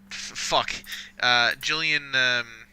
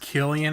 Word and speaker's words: Gillian: is Julian Julian it's pronounced Killian Anderson I'm surprised she's in